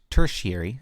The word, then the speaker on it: tertiary: to have primary secondary tertiary it's actually pronounced tertiary not to tarry area or turd here - Terry - Terry you think he pronounced like that that's tertiary very odd I looked